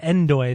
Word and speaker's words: Ndoye: There's actually a guy on the Swiss team, and his name is No Doy. It's Ndoye. I believe it's pronounced Doy. No, but they pronounce it Endoy. They say Endoy, but every time I just think No Doy.